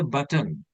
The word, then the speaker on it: button: in India we say button button button right but it's not button it's button button I mean the last n sound you need to make by your nose you have to say